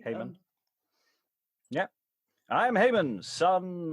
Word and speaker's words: Haman: king, clearly enough, with Hyman, Iman, or Liza has a thought on pronunciation there. I've just seen in the chat. I've often heard it said as Heyman, but Hyman works too, maybe. Haman.